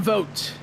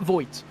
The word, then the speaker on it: Vogt: Vote is how they pronounce the driver of the 22's last name. That's how we do it. My apologies for my illiteracy. Yes, Aaron Vogt, and not Voigt.